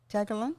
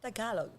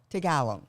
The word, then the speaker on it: Tagalog: Tagalan. Tagalog. Tagalog. Yes. Accents on the Ah.